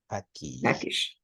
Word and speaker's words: package: How do you pronounce this word? Package. Package.